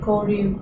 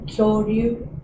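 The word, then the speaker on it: 交流: The terrible thing about my contracting organization is that in Japanese it's Uchikocho Kokusai Koryu Kyokai, but for the first 6 months I would say Uchikocho Kokusai Kyoryu Kyokai, which is like dinosaur association.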